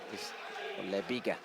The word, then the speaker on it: LEB1GA: LEB1GA is the correct pronunciation for the UA Steel prison, and it will be Junichi Kato to take it.